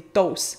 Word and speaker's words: toasts: des toasts ("des toasts", qui sont l'anglicisme "toasts", mais notez qu'on ne prononce ni le T ni le S, donc des ).